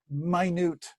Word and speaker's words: minute: lots and lots of minute that's not minute that's minut water droplets and tiny